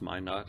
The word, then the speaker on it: Minot: I think it's pronounced Minot, I don't know.